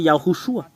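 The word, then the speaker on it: יההוֹשֻׁע: Et alors que le fait de prononcer cela, c'est Yahushua. Yahoo, Yahoo, Yahoo et Shua.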